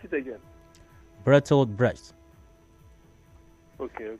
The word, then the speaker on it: Bertolt Brecht: Pronounce it again. Bertolt Brecht. Okay. Bertolt Brecht.